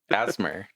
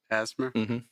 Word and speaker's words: ASMR: podcast or ASMR podcast so asmer that's that's how you say it asmer if people didn't say it like that before they're they're going to